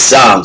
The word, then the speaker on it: Psalms: It's not Psalms, but it's Psalms, the book of Psalms. The P is silent.